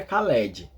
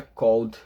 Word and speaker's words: called: inglês a gente pronuncia Called ó perceba eu não pronuncio e eu pulo o e e pronuncio o d né C ó o